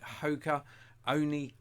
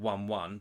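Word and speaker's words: Hoka One One: These are the Hoka Oni. I called it 1-1, but apparently it's pronounced Hoka Oni.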